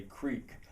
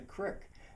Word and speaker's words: creek: And the prestige dialect would have people say creek, I'm quite sure. And I find myself, when I'm reading signs, in my head I'll pronounce it creek, but it doesn't feel right. It's a crick.